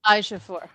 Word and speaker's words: Ejiofor: I'm going to call him Huey because I can never pronounce his name. Yeah, unfortunately, I struggle. He's a phenomenal actor too. So Chiwetel Ejiofor.